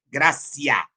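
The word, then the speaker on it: gratia: Escreve grátia, mas é latinha. pronúncia é graciar com quanto esteja grafado, gratiá.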